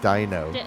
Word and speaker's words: dyno: It' be fun to put mine on a do whenever uh done. It's a dyno. Dino. Sorry. You always say do.